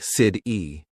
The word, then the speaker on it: city: For example, water sounds like wader, better sounds like be dare, city sounds like sid-e.